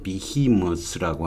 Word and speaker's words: behemoth: 이번 시간에는 어휘를 하나 알아보는데, behemoth라고 하는 거예요. moth 발음이 되죠?